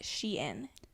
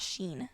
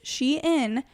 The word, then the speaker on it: Shein: For those of you who are uncultured, it is Shein because it used to be called She Inside and then they shortened it. So now it's Shein.